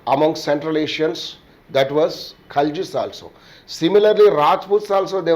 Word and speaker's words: Khalji: Generally we called them as a Khilji, we should pronounce them as a Khaljis.